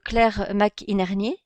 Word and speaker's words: Claire McInerney: Donc, vous êtes donc Claire McInerney, c'est bien ça? C'est bien ça. Bien prononcé, bon, Parfait.